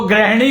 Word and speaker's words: गृह: ग्री को भी ग्रह मानने लग गए, तो गृहिणी बना दिया, जबकि वो गृहिणी होता है, गृहिणी। ग्रह और गृह में फर्क है, बस यही चक्कर है